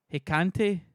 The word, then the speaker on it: Hecate: Hecate.